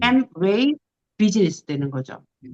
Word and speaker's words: Amway: 근데 아메이라는 우리가 아메이라 부르는데 영어로 할 때는 M으로 발음해요.